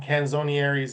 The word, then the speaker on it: Canzonieri: And Canzonieri is the right pronunciation? Yeah, you did really well with that.